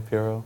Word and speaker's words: Pirro: Is that how I say her name, Pirro?